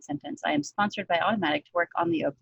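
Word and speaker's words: Automattic: working for the open source project sponsored by Automatic? Is that how, did I say it right? Okay. Yes, I work. Yeah, this is a complicated sentence. I am sponsored by Automatic to work on the open source project.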